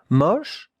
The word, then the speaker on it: moche: M-O-C-H-E. Sh. That two letters make the sound sh. Sh. Regardez la prononciation. Moche. It's not moche. No, it's moche. More open, the O.